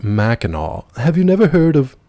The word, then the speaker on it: Mackinac: But he was like, actually, it's pronounced Mackinac.